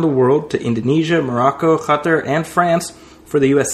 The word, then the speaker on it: Qatar: It's Qatar or gutter. Sorry. That reminds me of when President Obama would say Pakistan. Oh, yeah. Like, no. It's Pakistan. It's Pakistan. That's right. Well, the locals call it Qatar. That's why the people say gutter, because they pronounce they